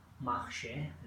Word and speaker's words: marche: fun okay here only this word Marche is pronounced like Masha dear tools so is